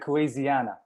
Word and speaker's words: Kuwaisiana: How do you pronounce it? It's good at Kuwaisiana.